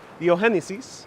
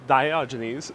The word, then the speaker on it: Diogenes: And this applies to also mythological characters, rather than Diogenes or Diogenes, it's Diogenes.